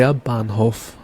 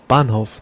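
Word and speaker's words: Bahnhof: train station in German you would say they bhof they bof the banov means train station and then we have the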